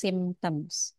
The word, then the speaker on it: symptoms: simptom simptoms Itu gejala bacanya sytoms gitu itu kayak susah banget sih bacanya apa gitu ya itu bacanya nya symptoms jadi kalau ada huruf y in English Biasanya kita baca I atau i some of the